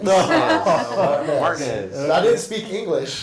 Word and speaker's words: Martinez: We moved to Augusta, Georgia, and I went to Martinez Elementary, which I later was told I was mispronouncing. It's Martinez. Martinez.